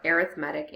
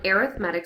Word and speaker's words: arithmetic: we're gonna study our arithmetic and geometric I know it looks like arithmetic but we happen to pronounce it a little bit different when we're talking about sequences so an arithmetic sequence as a sequence